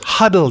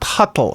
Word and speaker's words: huddle: It's huddle, not huttle. It has nothing to do with the huts.